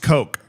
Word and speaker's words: Koch: It's pronounced Coke.